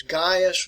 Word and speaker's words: Gaius: jurors all right now the way you want to pronounce this is gaius was one of them